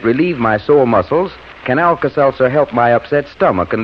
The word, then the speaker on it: Alka-Seltzer: you to remember it too just remember that Alka s e l t z e r spells relief although it's pronounced Alka-Seltzer if you want to be scientific